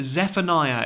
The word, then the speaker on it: Zephaniah: introducing you to this man this is benjamin zephaniah is how you pronounce his uh surname fantastic writer british writer